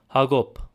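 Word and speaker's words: Յակոբ: In eastern Armenian, it's the name Jacob, also known as James. In Western Armenian is Hagop. In Eastern Armenian, it's Hakob.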